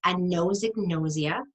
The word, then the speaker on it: anosognosia: It's anosognosia, and you'll impress people if you pronounce it correctly. The A in anosognosia means no or not having any.